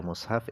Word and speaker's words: mushaf: ada tiga bahasa jadi cara baca mushaf itu ada tiga cara yang pertama dzumul mim dibaca dhomimnya mushaf wakasuha yang kedua dibaca kasrah mimnya mishaf kemudian yang ketiga